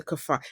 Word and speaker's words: Kaphar: new season for the kafar? Am I pronouncing your last name correctly? Kafar. Yeah, that's right.